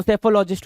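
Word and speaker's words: psephologist: जी आई एस टी सेफोलॉजिस्ट एस ई पी एच ओ एल ओ जी आई एस टी P silent हो गया है ना तो सेफोलॉजिस्ट हो गया राइट [गला साफ़ करने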